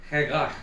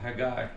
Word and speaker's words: Haggai: Or I looked up the Hebrew pronunciation, it's Haggai. Haggai. It's a guttural, Haggai.